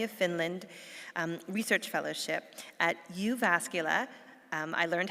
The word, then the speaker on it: Jyväskylä: prestigious postdoctoral Academy of Finland research fellowship at Jyväskylä. I learned how to pronounce that proper Finnish name.